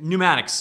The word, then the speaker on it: pneumatics: Pneumatics. Pneumatics. It's one of those words where the P is silent and you feel smart for saying it.